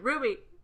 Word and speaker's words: RWBY: Ruby. RW. BY. Is that how you say it? It's Ruby, yeah. Yeah. That's how you say it? I've always Yeah. said the letters.